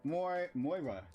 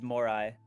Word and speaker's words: Moira: Moira. Moira? What is the name again? I'm sorry. I've been pronouncing it different literally every single time. It's all right. Everybody does. It's Morai.